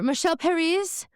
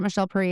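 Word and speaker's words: Michel Perry: her bright green pumps, which I just want to say, I know like she pronounced it Michelle Perry, and I'm sure that she's right. But the subtitle says Michelle Perry, and I'm like, okay, I see through this.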